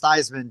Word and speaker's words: Theismann: At Notre Dame, he changed his name to Theismann, didn't change it legally. He just started telling everybody that it was pronounced Theismann to rhyme with Heisman because it was campaigning to win the Heisman Trophy.